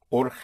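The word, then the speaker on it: urgente: And in Spanish, the the G before E and I is pronounced like u u in Scotland lo like it's so urgent would be or but spelled with a G.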